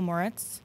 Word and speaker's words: Moritz: So from what I know, and correct me if I'm pronouncing his name wrong, but Michael Moritz, is that correct? Yeah, you got it. Michael Moritz, formerly of Sequoia.